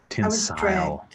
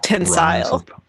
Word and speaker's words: Tensile: Tinsel. Not tinsel like goes on a Christmas tree, but no, tensile.